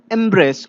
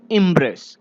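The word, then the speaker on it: embrace: सो the third word is एम्ब्रेस और इम्ब्रेस। इसे इम्ब्रेस भी कहा जा सकता है, इम्ब्रेस, या फिर एम्ब्रेस भी कहा जा सकता है।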